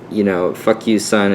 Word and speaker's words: Fukyucun: And, Fuck You Son is spelled Fukyucun.